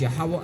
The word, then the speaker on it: Yahawah: that's what we misc combobulate sometimes but it's yahawah and yahawashi try to say it because I've